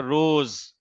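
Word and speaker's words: रोज़: हैं कि रोज, रोज, ये रोज नहीं होता, ये होता है रोज, जे वाली।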